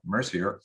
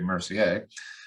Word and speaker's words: Mercier: Today I have Mercier, or correctly pronounced actually Mercier.